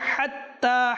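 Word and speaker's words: حتى: যেন না হয় সালামুন হাত্তা যেন সুস্পষ্ট হয় হাত্তা মিম জবর মাতলাল ফাজর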